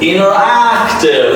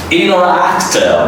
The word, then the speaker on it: interactive: The next word is interactive. There's a stress song in the next word. That is interactive. Don't say interactive.